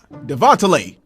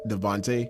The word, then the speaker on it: Devante: elise uh here uh devontella here and you said my name incorrect it's pronounced devante well mr devon j